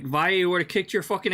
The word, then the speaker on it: Valle: Alex Valle did not enter this tournament. You spelled his name wrong, June. It's Valle.